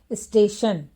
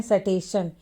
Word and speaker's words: स्टेशन: जैसे स्टेशन, तो यहाँ पर देखिए स है, तो कुछ बच्चे पढ़ते हैं सटेशन, लेकिन यहाँ इसे पढ़ना है स्टेशन।